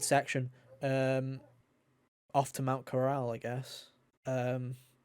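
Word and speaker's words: Corel: um off to mount Corral I guess um thank you for pronouncing it right by the way because I hear a bunch of speedrunners call it coral and I'm just like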